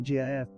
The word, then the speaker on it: GIF: it's not just like the peanut butter it's GIF like well GIF I know there's been some creators out there